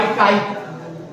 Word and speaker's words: chi: इसको अंग्रेजी में कहते हैं मैग्नेटिक ससेप्टिबिलिटी, चुंबकीय प्रवृत्ति, डिनोटेड बाय काई। अंग्रेजी में बोलते हैं सी, वैसे स्पेलिंग CHI, काई बोल देते हैं, और M लगा देते हैं तो मैग्नेटिक ससेप्टिबिलिटी, और E लगा देते हैं तो इलेक्ट्रिक ससेप्टिबिलिटी।